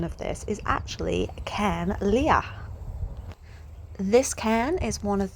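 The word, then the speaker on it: Carn Liath: I was excited to come across my first cairn, and even more excited when I learned the pronunciation of this is actually Cairn Leah.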